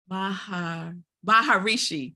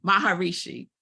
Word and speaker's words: Maharishi: Shri I always say his name ranked wrong baharishi Maharishi Maharishi so he's a Hindu religious leader who